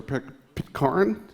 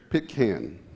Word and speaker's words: Pitcairn: flex we'll be providing all the radios for pick carne is that the way it's pronounced stupid carne Pitcairn good carry someone help how does it pick cane Pitkin okay well we'll be providing all the radios